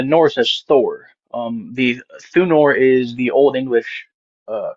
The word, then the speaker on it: Thunor: Thunor. Can you spell that for me?